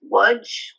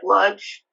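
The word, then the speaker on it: Łódź: Poland called It's pronounced lud um it's actually spelled l o DG so it sounds like ludge uh and and essentially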